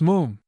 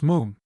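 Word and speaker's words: Moffam: I told you father it's moon. It's spelled m o ffam but pronounced moon to rhyme said Archie helpfully with bluffingham.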